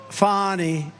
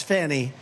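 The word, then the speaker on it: Fani: It's pronounced Fonnie. F A N I. That's Fanny. But she likes it FI.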